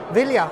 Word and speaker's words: Ville: Okay, we've come here to meet with Ville. Is that pronounced correctly? Yeah. Ville, okay, and you are?